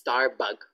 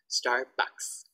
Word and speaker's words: Starbucks: My student thought is Starbug. They thought it's bug, B-U-G. So I thought, no, not bug, not bug. Starbucks.